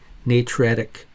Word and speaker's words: natriuretic: on the other side that's how you pronounce it like N J Tree youat like bat Ric ntic system or and it's